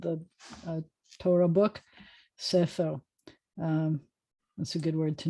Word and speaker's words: Sefer: I used to pronounce this one always as A, and we were told that it was like Sefer by the book, but it's Sefer.